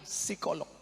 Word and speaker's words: psikolog: Tulisannya psikolog. Bacanya P-nya hilang, psikolog.